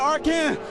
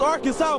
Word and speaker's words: Arkansas: I got that one, and that's how you pronounce it. Ain't Arkan. It's Arkansas, baby.